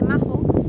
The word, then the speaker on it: Magho: El mirador de Mago. Que aquí dicen una especie de majo, que yo pensaba que era majo hasta que he llegado y he visto que se escribe con Maggho.